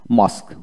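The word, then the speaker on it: mosque: তারপর আসেন মাস্ক, মসজিদ, এম ও এস কিউ, মাস্ক, ইউ ই উচ্চারিত হবে না।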